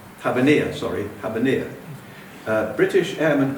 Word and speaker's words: Habbaniya: The the Arabic pronun pronunciation is Habania. Habania.